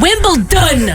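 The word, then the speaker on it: Wimbledon: come on man and wimbl dun with a d people and there's no t in it who is uh remind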